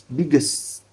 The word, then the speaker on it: biggest: Oh, without adding vowel. Jadi dari S langsung ke T, jadi jangan S, jadi biggest. Biggest.